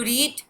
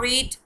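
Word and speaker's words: read: Spelling तो इसकी मतलब इसको स्पेल तो सेम किया जाता है लेकिन इसकी प्रोनाउंसिएशन चेंज है। तो वो इसकी प्रोनाउंसिएशन आपने हमेशा ख्याल रखना है। जो फर्स्ट फॉर्म होती है वो होती है रीड, और सेकंड फॉर्म रेड। जो प्रोनाउंसिएशन है, लिखने में आप रीड ही लिखेंगे इसको, लेकिन जब प्रोनाउंस करेंगे तो आपने इसको हमेशा रेड करना है, रेड।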